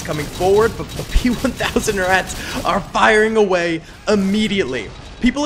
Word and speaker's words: Ratte: in the past have corrected me when I've said p1000 ratte which is how it's like written but I guess in German you just say rat uh so that's how I'm pronouncing it for this video either way tons of